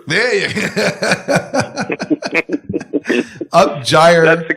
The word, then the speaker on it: gyre: It was Gyre. There you go. Upgyre. That's the correct pronunciation.